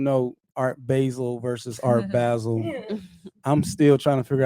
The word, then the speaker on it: Basel: Well, in Switzerland they say Basel. It Basel. In Switzerland, where it's just from, Basel. Basel, yeah. So it is Art Basel. Yeah, like the Bass Museum.